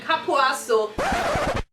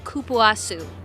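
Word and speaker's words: Cupuaçu: Shea Moisture Raw Shea and Kapuasu. The official pronunciation is Kupuasu.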